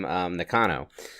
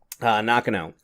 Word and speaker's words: Nakano: versus did you say Nakano? Wait, how'd you say that? Nakano. So yeah, again, my pronunciations are awful because to me she's always going to be Tam Nakano, but I'm wrong. Nakano.